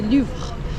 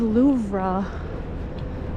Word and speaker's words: Louvre: girl because you know you say Luv that's kind of like a sound at the end the re so there's a girl